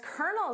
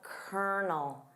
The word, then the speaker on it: colonel: Haron David Sanders, better known as Colonel Sanders, encountered many setbacks and obstacles before he became the success we know today. Of course, notice that pronunciation of kernel. Colonel. It sounds nothing like the spelling.